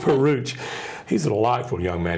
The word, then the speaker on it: Peruch: who played young Dooley, Luke Peruch, it rhymes with pooch is what they do with Peruch.